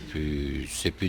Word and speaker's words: plus: So he doesn't pronounce it, and he shouldn't grammatically because when plus means no longer in the negative sense, one shouldn't pronounce the S.